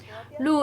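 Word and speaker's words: 鹿: to appreciate the deers blue in Chinese pronunciation pronounced is the same as good fortune and revenue so together with the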